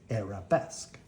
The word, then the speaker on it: arabesque: it's an Arabesque you say it like this arabesque I stand on one leg and I hold